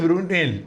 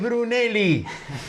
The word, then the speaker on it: Bruneli: Entonces Enrique le decía, "No es Brunel, es Bruneli."